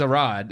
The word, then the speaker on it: Arad: Say Aviarad, but it's Arad, ARAD, but I know people were panicking over that because they're like, he produced Morbius.